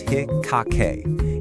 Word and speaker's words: Hikkake: It's called the hikake pattern that's pronounced hikake.